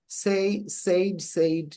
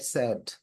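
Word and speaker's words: said: সেইড না স্যাড। সো the pronunciation গুলো আলাদা হইতে পারে।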